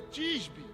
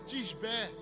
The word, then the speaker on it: Tisbé: Elias, em outras versões, de Tisbe. Mas a verdade, a pronúncia correta é Tisbé.